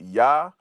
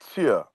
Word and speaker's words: here: So when we pronounce the word here, we pronounce it two ways. We still pronounce it Yah, or we'll pronounce it like cheer.